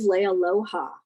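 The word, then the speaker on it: Leialoha: bill simkivic uh steve leia loja which is was was mentioned to me as the two most popular hawaiian words lay and aloha that's how you say it um but the cello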